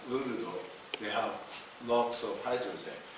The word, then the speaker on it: Lourdes: which say Luludo, I don't know how you spell it. L-O-L-O-U-R-D-E. Oh. Acid. Yes. Yes. Luludo. Okay. Lourdes.